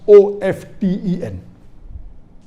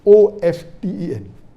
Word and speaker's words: often: of 10 is correct t is not silent it should be pronounced some say t sign